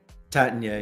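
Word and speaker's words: Taittinger: Tatinier? Tatinier, yeah. Oh, I nailed it. It's a soft G. I think you can spot someone a mile away if they use the hard G there. It's like shot.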